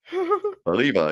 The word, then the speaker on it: Oliva: You gotta say it right. Oliva. Yeah, absolutely. Yeah. No, you gotta drag oh, out the E.